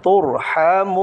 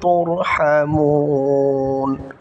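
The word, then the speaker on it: تُرْحَمُونَ: ছিল অক্ফ হওয়ার কারণে, মদের হরফের পরের হরফ অক্ফ হওয়ার কারণে তিন আলিফ টান হবে এবং নুনটা সাকিন হয়ে যাবে, উচ্চারণটা হবে তুরহামুন, সম্পূর্ণটা। ওয়ামা খালফাকুম লাআল্লাকুম তুরহামুন, আবার বলছি ওয়ামা খালফাকুম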